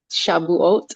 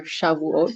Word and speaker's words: Shavuot: really focusing on um Shavuot or Shavuos, depending on how you pronounce it. Shavuot is the modern pronunciation. Shavuos is how I like to pronounce it.